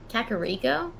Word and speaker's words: Kakariko: village it's a place kakariko that is the correct pronunciation what am i thinking